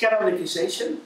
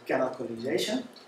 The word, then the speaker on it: canonicalization: The first step is canonicization. Canonicization, C14N, is usually used for it because it's such a difficult name to pronounce. So C14N means C and then 14 characters and then an N. But it's canonicalization.